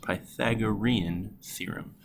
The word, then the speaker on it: Pythagorean Theorem: Again, that's pronounced Pythagorean Theorem.